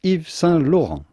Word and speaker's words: Yves Saint Laurent: are silent so do not say eves saint laurent the s of evie is also silent so say if salon if the saint laurent it'd be okay to say ifsa laura if you cannot pronounce the french r otherwise yves saint laurent christian